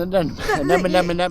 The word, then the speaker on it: anemone: And is this plant in the middle the one that is difficult to pronounce? This is an anemone.